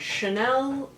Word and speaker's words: Chanel: be reviewing the chanel it's all in french chanel so that's how i i'm sure they intended it to be pronounced she is expensive and